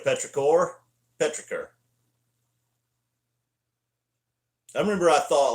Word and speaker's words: petrichor: Oh Lord, dude, a 20-minute Petrichor. That's another one. I say Petrichor instead of Petrichor.